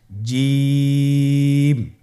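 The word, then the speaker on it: جيم: হা খ জিম হরফটি বারিক হরফ এটা উচ্চারণ করতে হবে তিন আলিফ টেনে দেখুন আমি কিভাবে উচ্চারণ করছি আপনারা আমার সাথে করুন জিম মাশআাল্লাহ আবার বলুন জিম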